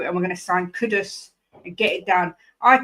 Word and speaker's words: Kudus: Jim says you don't say Kudos. You say Kudos. Is that right? Kudos. Yeah. Yeah. That's what they they because they they they got the players to pronounce their own names and it was Kudus. Kudus.